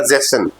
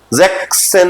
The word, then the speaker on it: sechzehn: तो उसका जो प्रोनाउंसिएशन रहेगा वो रहेगा जेसन। जैक्सन नहीं पढ़ेंगे, जेसन पढ़ना पड़ेगा।